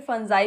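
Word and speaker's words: fungi: फंगी या फिर फंजाई भी इसका प्रोनाउंसिएशन होता है, यानी कवक को क्या कहा जाता है?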